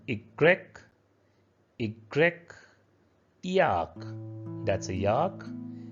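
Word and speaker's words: i grec: x xelophone a xylophone y is called igrec igrec yak that's a yak and the last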